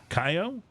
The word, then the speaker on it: Kaiyo: KAIYO? KAIYO? I think that's how I pronounce it. KAIYO. KAIYO, right? Because it's got a K in there. No. KAIYO. There's no second K.